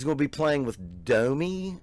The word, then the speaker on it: DOMi: We're going to be watching JD Beck, and he's going to be playing with DOMi, I guess is how you say it, DOMi, D-O-M-I.